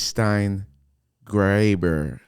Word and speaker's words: Steingraber: heard of that but that's how you pronounce Graber yeah okay I was just making sure it rhymes with neighbor yeah we're just making